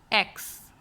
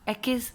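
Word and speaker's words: ache: The very first word is एक्स। इसे हम एचेस नहीं पढ़ेंगे, एकेस भी नहीं पढ़ेंगे, एक्स।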